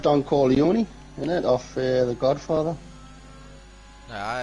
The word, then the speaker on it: Corleone: Right, no, I said Don Corleone, innit, off The Godfather. Nah, it's Don Corleone, innit?